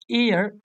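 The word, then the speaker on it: heir: হবে প্রথম অপশনে দেখতে পাচ্ছি হি ইজ অ্যান এয়ার of this property আমরা জানি এয়ার শব্দটির মানে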